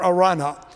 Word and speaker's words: Araunah: to the Lord on the threshing floor of Araunah. You may have not heard that name pronounced that way. There are three or four different ways that you can pronounce it. I prefer Araunah, the Jebusite.